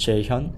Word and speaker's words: Jae-Hyun: To pronounce my name, I'm pronounced Jae-Hyun. It's hard to pronounce, but it's j a e h y u n. That's how you So, my It's pronounced Jae-Hyun.